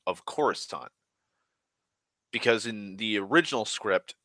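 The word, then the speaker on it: Coruscant: like this happens so he was still pronouncing it current and George and other people were just bitching at him like no it's not kuru Scott you little it's Khorasan or the fact that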